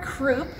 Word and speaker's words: croup: croup and we remember the word croup because it rhymes with the word poop and the croup is